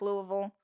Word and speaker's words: Louisville: outside of Louisville um you have to say it like Louisville it's Louisville if you say any differently you're wrong if you're talking about the Kentucky city oh my God it's